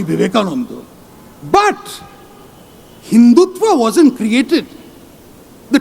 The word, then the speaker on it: Vivekananda: It is pronounced Swami Vivekananda.